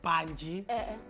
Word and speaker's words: Bantshi: I mean, the surname rather is Bantshi. Though I was questioning if Bantshi, because I call it Bantshi. Bantshi, no Bantshi. And we have Busisiwe Bantshi